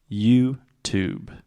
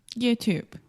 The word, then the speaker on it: YouTube: say you you perfect YouTube YouTube so the last sound is the B sound there is no e at the end in writing there is an e but in speaking the E is silent YouTube YouTube okay so